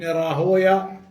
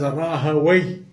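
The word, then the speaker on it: Rahwayh: who was Ishaq ibn Rahoya, and some of them pronounce it as Rahaway. And the reason why some scholars don't like to pronounce it as Rahaway as opposed to Rahoya, why?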